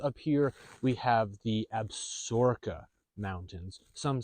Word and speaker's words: Absaroka: to the north up here we have the abura mountains some say absaroka as well so if we think again that